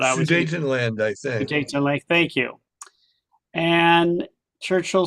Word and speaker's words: Sudetenland: He made the Munich Agreement, so allowed Germany to annex the Sudetenland. How do you pronounce that? Anyway, I can read it, but I always Sudetenland, I think. Sudetenland, thank you.